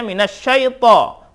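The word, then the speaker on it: مِنَ الشَّيْطَانِ: To, bukan to, minasyaito. Nah, ini yang harus kita rubah gitu. Nah, ada yang membacanya karena mungkin lahjah kali ya, lahjah salah satu etnis atau suku gitu ya. Bacanya to. Syaito. Nah, tidak ada o.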